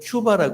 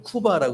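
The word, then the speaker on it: Cuba: 꾸바 빠라 크리스도 바라스 미국어 미국의 영어를 잘 아시는 분들은 큐바 하세요 어 스페인어를 잘하는 분은 꾸바 아고 해야 돼요 근데 한국 사람들은 쿠바라 해요 그 세 가지가 다 같은 말인데 발음이 조금씩 틀려서 좀 무서워요 쿠바를 그리스도께로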